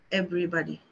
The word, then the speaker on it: everybody: every it becomes e everybody everybody every bite your lip when you're saying the V sound every everybody everybody everybody everybody everybody so when you're saying body you have to close your lips everybody every Everybody yes